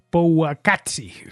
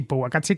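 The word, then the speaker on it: Powaqqatsi: La segunda se llama Powakatsi, creo que se pronuncia así, Powakatsi con W.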